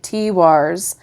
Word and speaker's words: Tiwaz: And it does have the pronunciation. All right, T-Wars.